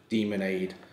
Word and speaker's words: Demonade: than it sounds because obviously it's pronounced demon and not demin but it's spelled like lemon with it yeah yeah